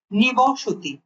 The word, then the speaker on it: নিবসতি: নিবসতি, অধিবাস, সঠিক উচ্চারণ নিবসতি, নিবসতি এবং অধিবাস।